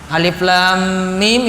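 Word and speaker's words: الم: Dan ini ditunjukkan cara baca huruf muqatta'ah. Alif lam mim itu huruf muqatta'ah. Baca sesuai dengan nama huruf, terus disambungkan. Kalau ketemu nama hurufnya nanti mim ketemu dengan mim selanjutnya, dengung berarti.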